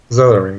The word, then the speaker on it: Zelering: Zelering? Zelering, yes.